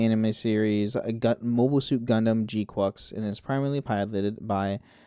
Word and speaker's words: GQuuuuuuX: name, it's like, "Oh, this has to be pronounced G-Quix." Like, cuz it's quick, it's fast. It's a mobile It's like, you know, it's an actual agile mobile suit. Nope, G-Quocks.